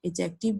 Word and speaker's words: adjective: In adjective, D is silent.